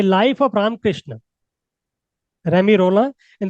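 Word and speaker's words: Romain Rolland: इसका जो प्रोनाउंसिएशन है वो भी क्या है, रेमी रोला, जो फ्रेंच टाइटल्स है उनके प्रोनाउंसिएशन डिफरेंट ही होते हैं, ये ऐसा नहीं है कि रोमन रोलैंड।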